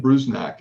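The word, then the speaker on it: Bruzenak: Uh Ken Brznack. Is that was that how you pronounce his name, Jimmy?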